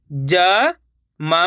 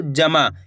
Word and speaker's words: जमा: उच्चारण निकालना है आपको, जमा। ऐसे नहीं पढ़ना जामा। कैसे पढ़ेंगे? जमा। अगर आप जामा पढ़ोगे तो जा में आ की मात्रा लग जाएगी, जामा, तो ये शब्द गलत हो जाएगा।